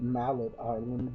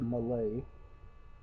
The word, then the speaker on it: Mallet Island: I call it Mallet Island because of the way it's spelled, but it's pronounced Malay.